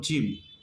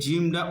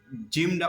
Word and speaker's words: جيم: 3টি হরফের মধ্যে প্রথম হরফ হলো জিম। অনেকে জিমটা উচ্চারণ করে জিম জিম জিম, মানে ইংলিশের যে জেড হরফ রয়েছে এই জেড লেটারের মতন অনেকে জিম উচ্চারণ করে। আসলে জিমটা এরকমভাবে উচ্চারণ হবে না।